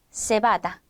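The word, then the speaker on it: cebada: 차이가 있을 수 있는데 크게는 스페인에서는 번데기로 발음하고 중남미에서 는 쌍 시옷으로 발음한다 이렇게 정리해 두셔도 무방합니다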